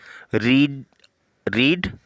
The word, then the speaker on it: read: तो आपने ध्यान रखना है किताब पढ़ने की इंग्लिश रीड अ बुक। अब रीड रेड होता है, थर्ड फॉर्म रेड ही रहे, मतलब स्पेलिंग से सेम रहेगी लेकिन प्रोनाउंसिएशन डिफरेंट है।